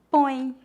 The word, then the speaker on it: põe: O ditongo nasal oin é pronunciado aproximadamente como as letras O, I, N, oin. Veja alguns exemplos. Põe, ações, aviões.